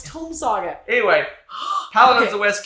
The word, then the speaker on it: Tome Saga: Tommy Saga. Darn it. No, it's Tome Saga.